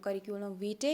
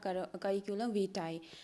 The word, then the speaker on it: curriculum vitae: ठीक है, तो आप अपने हिसाब से इसको बोल सकते हो, करिकुलम वीटे या करिकुलम वीटाई। तो ये आप पे फिर रहता है जिस तरीके से आप इसको प्रोनाउंस करो।